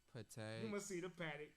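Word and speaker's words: Patek Philippe: How you pronounce it? Patek, Patek.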